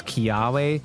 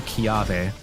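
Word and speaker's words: Kiawe: But the guy that uses it, uh, Kiwe, they pronounce his name as Kiwe, which really pisses me the off. Won't you play with me? Because it should be Kiyave, which is a tree, the Kiyave tree.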